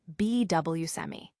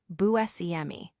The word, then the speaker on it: Buscemi: family in 1960s Brooklyn, the pronunciation he was accustomed to was Buscemi. However, Buscemi humorously confessed that he can no longer replicate that original pronunciation consistently and has since gravitated towards Buscemi, a variation that seems to blend elements of common usage with his personal history.